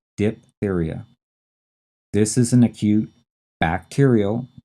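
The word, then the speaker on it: diphtheria: There's this silent h in there. And then t h e r i a. Diptheria.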